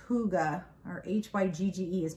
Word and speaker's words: hygge: name you see it it's actually pronounced hygge h-o-o-g-a-h with right what does